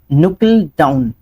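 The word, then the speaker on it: knuckle down: Okay, अगला question, अगला question है नुकल डाउन। ये के से पहले, के बाद जब भी एन आता है तो हम उसको मतलब प्रोनाउंसिएशन में ऐड नहीं करते हैं, और ये एक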